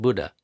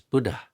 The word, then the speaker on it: Buddha: So, Buddha Buddha, it's not Buddha, it's Buddha. There's a little H. There's a little bit of air.